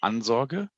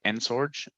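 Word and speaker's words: Ansorge: you pronounce it oh in german it would be anzog in english i always say ensorge but yeah cool there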